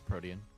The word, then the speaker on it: Protean: It's not how you pronounce it. It's Protean.